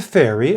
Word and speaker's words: ferry: the walkway number two these two words are both pronounced fairy write them down a